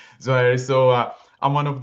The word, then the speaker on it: Zouhairi: Um yeah, my name is Youssef Zouhairi. That's how I pronounce it. Zouhairi.